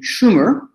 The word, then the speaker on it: Sumer: French guy, you know, he pronounced it Sumer, and it was known as the Sumerian civilization. The Akkadian pronunciation, the pronunciation of the people of that region would have been Shumer, and the Hebrews recorded it always as Shinar.